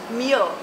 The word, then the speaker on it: Meahl: Meahl? How do you pronounce that? Meahl. Meahl.